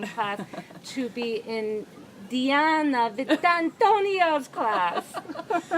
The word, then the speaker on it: Vitantonio: class to be in Diana Vitantonio's class. That's such a good pronunciation. That's how you have to say it.